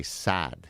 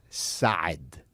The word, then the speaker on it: Saad: my last name everybody all Americans will say sad you just extend the a but the proper way to say it it's God side sad right it's the